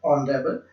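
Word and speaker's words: honourable: इनमें सब में एच साइलेंट है, आप ओ से साउंड स्टार्ट करके पढ़े, आवर, ऑनेस्ट, ऑनर, ऑनरेबल।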